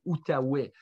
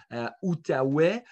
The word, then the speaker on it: Outaouais: But, you know, in French, we say Outaouais. Outaouais, probably closer to Outaouac and Adaway.